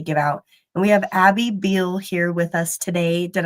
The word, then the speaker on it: Abby Beale: And we have Abby Beal here with us today. Did I pronounce that correctly?